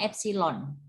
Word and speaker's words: epsilon: relatif ini nulisnya FC ini bacanya epsilon ya epsilon Te Gimana